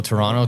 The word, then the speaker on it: Toronto: Where's Toronto? The the T isn't pronounced.